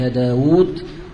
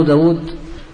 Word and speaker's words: داود: هذا يعني من الملح، والمقصود منه أن تعرف أن داود تكتب بواو مع أنها تنطق بواوين، وأن عمرا تكتب بواو مع أنه ليس فيها واو، فكأن واو داود التي انتقصت أخذها عمرو.